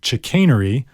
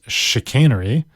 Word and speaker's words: chicanery: with our first word our first word is chicanery also pronounced chicanery and it means trickery